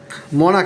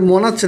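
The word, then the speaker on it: monarch: যেমন দেখি মনাক, মনাক, এটা মনাচ্ছে না কিন্তু মনাক, এটা কিন্তু কয়ের উচ্চারণ হয়েছে।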